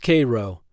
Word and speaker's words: Cairo: Number 14, Cairo, Illinois. Pronounced Cairo, not like Egypt.